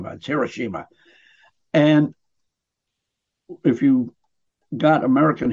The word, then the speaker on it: Hiroshima: we dropped on here Hiroshima which is not pronounced here Russia that's Hiroshima and if you got American history over there